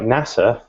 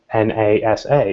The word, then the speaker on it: NASA: an impact on how screen readers for example pronounce things so words like NASA if you make it capitalized then it may say na sa rather NASA which we don't really further refer